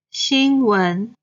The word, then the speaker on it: 新闻: 钢琴钢琴 Then 新闻 the news. Same. 新 is the first tone. 闻 is the second tone.